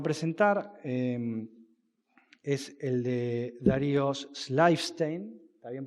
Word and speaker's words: Schleifstein: El primer trabajo que va a presentar es el de Darío Schleifstein. ¿Está bien pronunciado, Darío?